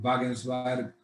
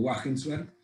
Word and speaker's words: Wagensberg: Su nombre es Jorge Wagensberg, usted le puede pronunciar Wagensberg o Wagensberg, que dijo una frase que a mí siempre me gustó.